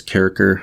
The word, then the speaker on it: Kircher: And this letter was from Marci to Athanasius Kircher, which some people sort of pretentiously pronounce as Athanasius Kircher. I really don't like that pronunciation. I go with Kircher instead.